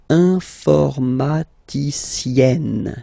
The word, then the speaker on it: informaticienne: And you get the sound informaticienne. Sienne. Remember, E and then double N, or then it could be double L or double consonant here. You open your E, so it's E. Informaticienne. Okay, so I tend to insist a little bit.